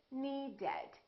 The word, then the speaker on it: needed: The word need ends with a D. So we say needed. We add an extra syllable.